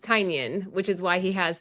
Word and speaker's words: Tynion: And I got to meet James, and I believe it's pronounced Tynion, which is why he has Tiny Onion as his Tiny onion, company. tiny. Tynion, yeah, kind of think like Tyson or Tynion.